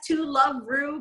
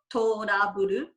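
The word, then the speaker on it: To Love-Ru: Yeah, and then so we read it as To Love Ru, but it's actually supposed to be trouble, but in the Japanese pronunciation, so Toraburu.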